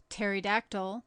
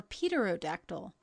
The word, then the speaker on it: pterodactyl: a native of ireland its name being pronounced pterodactyl or peterodactyl as the man pronouncing it may chance to have heard it spoken or seen it printed dejanes noun the breakfast